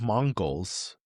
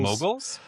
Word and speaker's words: moguls: But there's women's Mongols that I just finished. I don't know if I'm pronouncing right. Mongogles. Mongols. Mogul. Moguls.